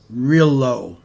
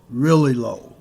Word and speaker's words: Rillieux: His last name is pronounced Rillieux, Rillieux, in Louisiana.